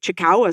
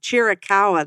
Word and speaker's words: Chiricahua: Tucson has an entire group, and now they have the Black Star Chickawa site. I think it's how you say it, Chickawa. But they have these locations. Chiricahua, that's what it's called.